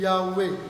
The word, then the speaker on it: Yahweh: on andi ka haala ɓeya ɓe inni woɓɓe ma yahuwa yahwe Donc, vous savez, dans la langue hébreu, certains disent Yahweh. voilà yahwe ɓe français ɓe wolira ɗo yahuwa Donc, d'autres disent, prononcent ça Yahuwa.